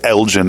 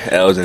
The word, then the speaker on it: Elgin: bit of trouble because there's a town in Texas called Elgin, Texas, so I had to make sure I said it right. It's Elgin, Illinois. Is that right? Yes, sir. Elgin, Illinois.